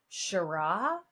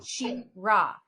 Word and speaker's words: Sherah: So they'll mispronounce it and be like Sherah. And I'm like, Sherah? No, Sherah. She, like she, yes. Her is at the forefront and is the most important thing in supporting women and women supporting women.